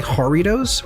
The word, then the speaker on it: Jarritos: But I fucking love the I'm gonna say Jarritos, because I think it's a soft J normally in Spanish for this, Jarrito.